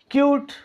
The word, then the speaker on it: cute: एंड पर vowel आ रहा है, उसको हम प्रोनाउंस नहीं कर रहे। HOPE, होप, ओ को लंबा, होप, होप। CUTE, क्यूट, प्यारा, भला, अच्छा, राइट।